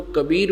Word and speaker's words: कबीर: इसी प्रकार जहां वेदों में कवि शब्द लिखा है कवि कबीर कबीर तो हम उसको कबीर बोलते हैं। कबीर ब बोलते हैं ब को। इतना ही बोलने का उच्चारण का अंतर है। पर प्रोनाउंसिएशन का ही फर्क है।